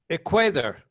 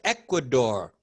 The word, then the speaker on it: Ecuador: we were older okay people from equator equator people from ecuador ecuador our neighbors the country